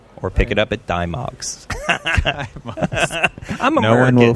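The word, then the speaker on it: Dymocks: So you can purchase the book at, I pronounce it Dimox, but apparently... Dimmicks. Yeah, exactly. British people say it's Dimmicks.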